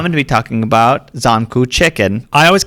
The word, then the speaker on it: Zankou: On record, Zankou, sir. There's a lot of really hard things to pronounce in here, so be patient.